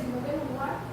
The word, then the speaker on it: Simone de Beauvoir: Perdón, es que va a hablar en francés. Ok. Pero se pronuncia así, Simone de Beauvoir.